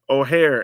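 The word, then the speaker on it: Ojer: So yeah, Oare is how we're pronouncing this card.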